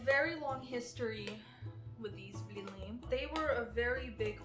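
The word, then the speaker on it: блины: Blini. Blini, or as Americans say, blini. Blini? No, blini. Well, Rough. ew. Blini. It's kind of hard to pronounce, I guess, but Blini.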